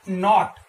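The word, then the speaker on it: knot: अगले जो वर्ड को हम देखेंगे, के एन ओ टी, नॉट, यहां पर भी जो के है वो कैसा है, साइलेंट है, और नॉट का मतलब होता है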